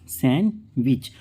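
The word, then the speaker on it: sandwich: के हम पढ़ते हैं सैंडविच क्या पढ़ेंगे इसको सैंडविच तो इस प्रकार से जब किसी वर्ड में डी के बाद आएगा जी एन एच डब्लू हो तो वहां पर डी क्या हो जाएगा साइलेंट हो जाएगा आई होप गाइस ये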